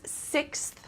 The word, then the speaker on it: sixth: this is the author's sixth book okay so emphasis on that th sound which is difficult for some people the so sixth okay